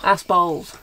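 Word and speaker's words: Aspall: Like ass balls. Ass balls, yes. Pronounce the P.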